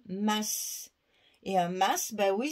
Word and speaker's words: masque: masque et chez nous on prononce le S on dit pas un mât parce que ça c'est un mal de bateau nous on prononce toutes les lettres donc on dit masse et un masque bah